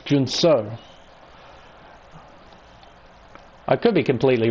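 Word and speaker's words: Junção: He calls it Chow, Jun Chow, and apparently that's very wrong, so I'm not going to pronounce it like that. Pretty sure it's Jun So.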